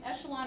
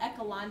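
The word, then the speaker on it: échelon: reduced row Echelon form this is either pronounced Echelon or ealon depending on who you talk to but we're going to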